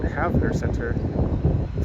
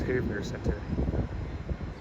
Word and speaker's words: Havener: Some people also pronounce it Havner Center, but I think the correct way is Havner Center.